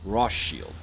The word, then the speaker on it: Rothschild: said rothschild it's because a german friend of mine was trying to get me to pronounce it in german and i just butchered it so i just was kind of saying ross shield which he says is not incorrect but i'm american so it's rothshop and uh this is